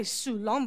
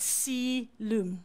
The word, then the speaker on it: coelom: Now, if you look at this word coelom, it is pronounced, all right, something like sea. Okay, so you're going to say, you can say sulom, but sea loom.